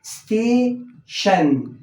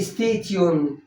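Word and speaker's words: station: مقدمه كده عندي مثلا التي والاي والاو والان دول بيتنطقوا شن فجد للطالب مثلا تيجي قدامه الكلمه دي ركز معايا بعد اذنك ادي الاربع حروف مع بعض هيتنطقوا شين ونون يبقى شن يبقى الكلمه دي ايه ستيشن ابص الاقي الطالب بيقول لي ستيتيون طبعا غلط يبقى لازم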